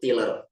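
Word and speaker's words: Tylor: jadi tulisannya itu t y l o r bacanya itu tiler bukan tiler tiler tiller ini dia punya karya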